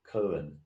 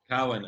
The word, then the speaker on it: Cowan: And with me is also our fat boy colleague, Cohen. Cowan, actually.